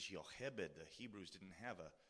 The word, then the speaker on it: Jochebed: So when Jochebed, it looks like Jochebed in English, but the Hebrew pronunciation is Jochebed.